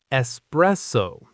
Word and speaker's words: espresso: The correct pronunciation has three syllables and the stress is right in the middle. It sounds like this. Espresso.